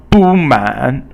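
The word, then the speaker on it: 不满: 不满. Well, 不满 means 不 is no, and 满 is 满意, which means basically third tone plus fourth tone means not satisfied.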